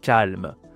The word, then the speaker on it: calme: Attention hein, prononciation c'est pas calme. C'est calme.